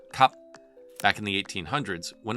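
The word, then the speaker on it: 急: In Mandarin, there's a word called ji or hasty. In Cantonese, they pronounce it kap.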